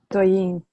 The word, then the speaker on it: Doyin: Doyin? Yes. Doyin.